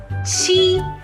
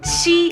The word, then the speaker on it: 七: 七 is number 7. To pronounce 七 is very simple. It's this one. Ch, ch.